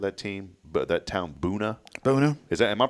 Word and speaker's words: Buna: But that town, Boona. Boona. Am I pronouncing that right? Boona. I think How so. else would you say it? Buna, but it can't be Buna. It's got to be Boona. So, and I've tried to figure it out.